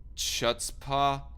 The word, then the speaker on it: chutzpah: trump day after day in an act of chutzpah is that how you pronounce that word c-h-u-t-z-p-a-h chutzpah and an act of chutzpah difficult to